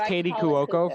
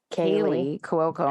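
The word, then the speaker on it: Kaley Cuoco: I thought it was Katie Cuoco for the longest time, and apparently she has L's. Kaylee Cuoco.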